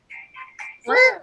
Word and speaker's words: Freer: Freer.